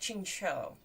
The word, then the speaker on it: Qingqiu: what's the difference uh ching is closer to chinchou so the last syllable is more like a o than a u okay ching cho shen ching cho okay